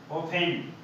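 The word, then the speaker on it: often: ऑफेंस ये word meaning इसमें आता है अपना ओफेन। इसमें ओफन में आर क्या है, साइलेंट, आर नहीं बोलेंगे।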